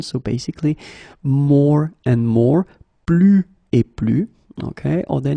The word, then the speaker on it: plus: So the first example is plus et plus. Okay, so you can see that I don't pronounce it final S.